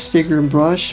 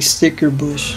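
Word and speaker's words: Stickerbush: and sticker bush symphony i used to pronounce this sticker brush but it's it's actually sticker bush and well here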